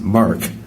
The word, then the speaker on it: MIRC: now i've joked that the mirc is pronounced mark so this is a very murky process and i hope that